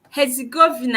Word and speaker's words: Herzegovina: Yeah, it is pronounced Herzegovina.